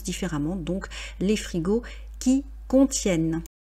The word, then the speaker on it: contiennent: On dit bien qui contiennent, ne prononcez pas le son en, bien qu'il y ait ENT, lorsque c'est dans le cadre d'une conjugaison, donc troisième personne du pluriel, on prononce les frigos qui contiennent des produits surgelés.